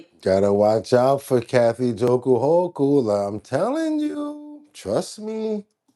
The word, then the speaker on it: Hochul: You're not saying it right. It's Kathy Jokul Hochul.